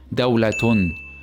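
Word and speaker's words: دولةٌ: If we do that, then this word will be pronounced as dawlatun, dawlatun, tun, dawlatun. So this word with tanween with dhamma is pronounced with the teh sound.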